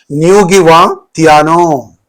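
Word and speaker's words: Ngũgĩ Thiong'o: Ngugi Thiong'o.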